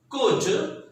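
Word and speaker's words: could: थोड़ी गड़बड़ी इनके प्रोनाउंसिएशन में होती है, वुड, शुड और कुड में, इसमें एल साइलेंट है, तो वुल्ड, शुल्ड और कुल्ड नहीं करेंगे, that is वुड, शुड एंड कुड।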